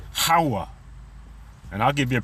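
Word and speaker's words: הָוָה: And you can see it says Hawa. And I'll give you a pronunciation, even though this is going to be pronounced with the V sound.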